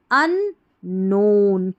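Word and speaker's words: unknown: एस डिसवर discover the अन नोन के silent है।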